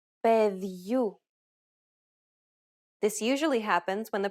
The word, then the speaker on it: Παιδιού: In the first, you will notice the addition of a sound very similar to the English Y in the word yard between the consonant and the opening diphthong. For example, Ζευγάρια. Παιδιού.